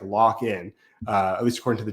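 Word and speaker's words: Lakhin: I didn't you don't you don't read it that way but it's pronounced like lockin at least according to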